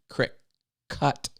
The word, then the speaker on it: Cricut: spelled like that it's c-r-i-c-u-t like cut crick cut because it has a